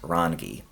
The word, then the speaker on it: Rangi: Her name's actually pronounced Rangi.